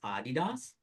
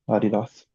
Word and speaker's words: Adidas: by the way, do you know that it's pronounced Adidas? Oh yeah, German, Adidas.